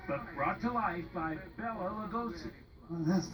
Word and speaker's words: Bela Lugosi: Dracula, a creature conjured up by author Bram Stoker, but brought to life by Bela Lugosi.